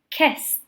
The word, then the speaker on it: kissed: So kiss, kissed. So you can hear that T, kissed.